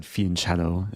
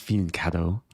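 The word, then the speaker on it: fianchetto: Maybe I'll I don't know why I said fiancto. It's pronounced fianto.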